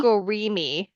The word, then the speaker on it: Amigurumi: Amigurumi is, I think, how you pronounce it. Amagurumi?